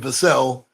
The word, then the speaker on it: Vassell: He pronounces his name Vassell, much like the great guard for the Houston Rockets, LA Clippers. He's the well-traveled Sam Cassell.